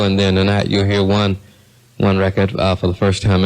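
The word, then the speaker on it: Juan: One has been doing it for quite some time, and the one I'm talking about, his name is One. The O-N-E is J-U-A-N, which is sometimes pronounced one.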